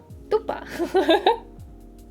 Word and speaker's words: dupa: Okay, so how do you pronounce it? Dupa? Dupa.